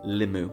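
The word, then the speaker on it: limmu: So the pronunciation of number four is actually limu that's the most attested word for four.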